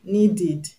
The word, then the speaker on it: needed: For example, needed, needed. The root word is need. It ends in D. So the ED that makes it past tense will be pronounced ED.